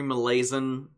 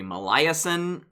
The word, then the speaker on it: Molaison: Now, I've heard his last name pronounced a number of ways. Henry Molaison is how I've heard it from Stan Klein, who I learned memory from.